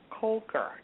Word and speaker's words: Koelker: Kulker. Is that am I pronouncing her name properly?